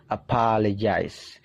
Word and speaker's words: apologize: dengarkan baik-baik apologize nah di situ dibaca je ya Ada simbol aneh seperti itu dibaca je apologize teman-teman bisa aplikasikan pelajaran